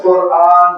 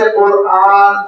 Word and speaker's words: قرآن: کی وجہ سے کہ ہم قرآن کہتے ہیں، قرآن نہیں کہتے۔ مد ہے، حمزے کا تلفظ ہے، اور جب ہم اس